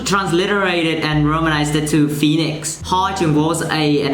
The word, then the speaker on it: Phoenix: P and H, in English, we pronounce it as F. But then Khmer, we PH, it's pronounced as P.